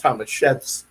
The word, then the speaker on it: Tomaszewski: Don't get me wrong, but for Polish people, we would pronounce that Tomaszewski.